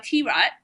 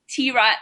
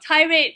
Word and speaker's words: T-Rat: So our community chat podcast, Tomboy T-Rat, yes, it's pronounced as T-Rat, not tirade, but T-Rat, the way we like to say it, featuring both of us, has become Asia's biggest all-female comedy chat podcast.